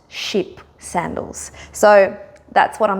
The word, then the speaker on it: Chypre: Now when I was there, I was actually calling them the Chypre sandals, but my sales assistant in Paris, who is French herself, told me it's pronounced Chypre sandals.